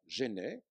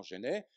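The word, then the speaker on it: Jenney: Alors, je suis, à l'heure actuelle, convoqué à un colloque sur William le Baron Genet, ça s'écrit comme en français, J-E-N-N-E-Y, il est dans le papier que vous avez.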